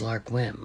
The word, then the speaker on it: Lark Whim: was lar whim so your name is Lark whim like uh on a lark or on a whim so your name could